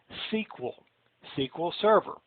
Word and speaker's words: SQL Server: You should pronounce this SQL Server, not SQL.